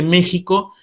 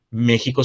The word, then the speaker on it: México: partir de aquel momento méxico se escribiría con x pero la pronunciación continúa siendo la pronunciación actual de esta letra que sería j esto ocurre con algunos